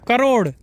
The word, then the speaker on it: crore: Crore. Oh, crore. Okay. Did I say it wrong? Yeah, he said wrong.